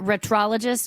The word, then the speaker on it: Retrologist: So, and with the, do you pronounce it retrologist or retroologist? Retrologist.